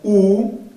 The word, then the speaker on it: où: C'est l'heure, sonido l'heure où, ese acento doblado no cambia la pronunciación, siempre se va a pronunciar où tout est sage, tout, como tenemos vocal, hacemos la liaison.